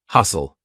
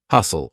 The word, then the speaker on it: hustle: saying listen silent T hustle s tle e lots of times words with SLE e will have a silent T hustle or fteen silent T